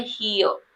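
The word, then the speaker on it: here: र को साइलेंट रखना है। आपको बोलना है हियर।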